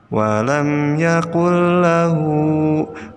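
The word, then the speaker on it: وَلَمْ يَكُن لَّهُ: lam nah dia jadi cara membacanya adalah Nun nya dimasukkan ke dalam huruf berikutnya yaitu alam seperti contoh ya walam Yakul lahu walam Yakul Lahu musuhnya di nurnya dimasukkan kedalam lam jadi nonya tidak dibaca walam yakullahu seperti itu ya Nah kemudian pada tanda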